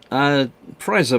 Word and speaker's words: Preiser: It's pronounced Preiser models.